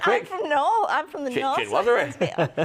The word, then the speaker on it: chinoiserie: Chinwazzery. Chinwazzery.